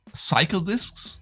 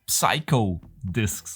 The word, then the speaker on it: Psycho Disks: the last episode but this one is not called psycle discs it's called psycho discs okay just to to